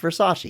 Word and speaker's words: Versace: character she says it again thanks it's a Versace and he's the only one that stops and is like it's Versace it's pronounced Versace he doesn't make fun of her he like